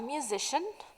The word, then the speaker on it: musician: Oxford English book okay the ending CIA n which is pronounced as shin is used in the names of many jobs match the jobs where with the definitions okay first a musician plays a musical instrument